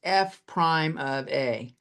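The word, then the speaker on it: f′(a): So we call this step here, when we're doing it, we say this is f prime of a. That's how it's pronounced.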